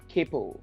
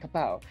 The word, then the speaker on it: Kapow!: get across quickly so people are like Capo like they mispronounce it later kapow I'm like there's an exclamation mark at the end so like you know